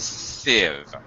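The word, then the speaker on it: sieve: short SA or Sie it's pronounced like a short I civiv yeah okay yeah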